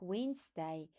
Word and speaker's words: Wednesday: There are a few words with a silent D, like Wednesday, that you need to study.